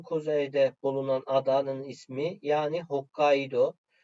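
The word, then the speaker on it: Hokkaidō: bulunan adanın ismi yani hokkaido sondaki o harfi uzatılıyor Yani hokkaido bu yazımda uun u ve ufa U şeklinde ama okunuşta sadece udun no'sunu uzatarak okunuyor başka istisnalar da var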